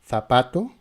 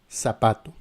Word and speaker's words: zapato: En Espagne, nous avons le son F F. Z. Et en Amérique, on dit Z avec S. Z. Par exemple, dans les mots zapato ou zapato.